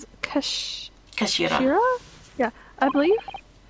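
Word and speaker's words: 頭: It's written as head in Japanese, but it's pronounced as Kash Kashira.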